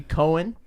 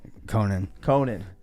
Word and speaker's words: Conan: Baby Cohen? Is that how you say it? Conan.